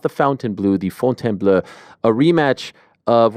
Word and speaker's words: Fontainebleau: March 29th on ESPN and ESPN Plus here in the United States from the relatively new Fontainebleau. I always have to say it like that. Fontainebleau, not the Fontainebleau, the Fontainebleau.